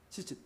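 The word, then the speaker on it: ציצית: 히브리어로 이것을 이제 찌짓 혹은 치짓, 발음이 이게 애매해요. 치와 찌의 중간쯤 돼요. 찌짓.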